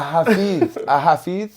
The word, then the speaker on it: Hafiz: So a hafiz. Hafiz. You Hafiz. can say with a Z. There's different ways to pronounce it. Hafiz. Like in English, you would say Hafiz.